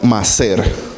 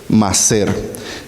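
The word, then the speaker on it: מעשר: estilo de vida para ellos diezmo en hebreo más ser se escribe m a a s e r más ser esa es la palabra de diezmo en hebreo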